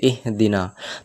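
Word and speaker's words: اهْدِنَا: মাঝখানে লাম না থাকে যখন এখন দেওয়া আছে এহদিনা তো এই আলিফ যে অক্ষরটা আলিফের সঙ্গে যুক্ত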